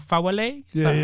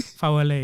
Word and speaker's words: Fawole: Fawole. Pronounced it right? Yeah. I got it phonetically spelled here, just so I don't pronounce it well, buddy. Fawole, yeah.